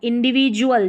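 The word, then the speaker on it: individual: इंडिविजुअल, ज, डी को हम ज पढ़ रहे हैं।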